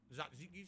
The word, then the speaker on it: tzatziki: Tzatziki sauce, that's how you say it, tzatziki.